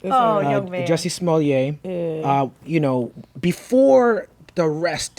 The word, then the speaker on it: Smollett: Jussie Smollett.